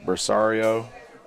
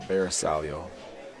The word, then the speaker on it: Bersaglio: You'll hear Bersaglio, you'll hear Bersario, but it is a Bersaglio.